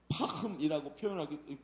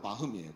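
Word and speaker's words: Пахом: 이 책에 보면 주인공이 바흠이라는 사람이 나와요. 파흠이라고 발음하기도 하는데 러시아 말로 바흠이에요.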